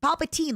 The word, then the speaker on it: Palpatine: So I was also like it's Palpatine. Yeah. Like Byzantine. Palpatine. Like Byzantine. What do you mean? Wait, stop. WHAT DO YOU MEAN THAT'S NOT HOW you say Byzantine? The Byzantine Empire.